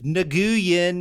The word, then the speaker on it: Nguyen: They're pronounced, isn't it like win? Yeah. Like people will be like Nguyen, and you're like, that's like, not win. how it goes at all. Yeah. Like, somehow it's win.